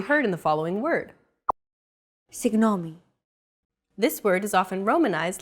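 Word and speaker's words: συγγνώμη: romanized like this signomi this character isn't pronounced using an English G sound at all it's like a very soft continuous and loosely held G almost as if you're gargling but don't make it sound too throaty there's no such sound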